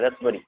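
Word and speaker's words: raspberry: Psycho, psychology है, इसे पढ़ेंगे रसबरी, रसबरी, ये पी साइलेंट है, रसबरी।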